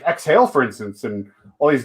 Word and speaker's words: Xhale: oh it's spelled weird it's actually x-h-a-l-e yeah exhale like the word and then ale yeah yeah oh it